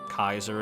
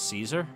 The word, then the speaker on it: Caesar: goodbye loyal caribouris cat did you know kerberos is actually the proper way to uh pronounce cerberus much like kaiser is the proper way to pronounce caesar the things you learn